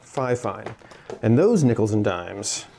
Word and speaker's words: FIFINE: My only criticism would be the name Fifine. It's such a doesn't roll off the tongue very well. Yeah. Turns out it's actually pronounced Fifine.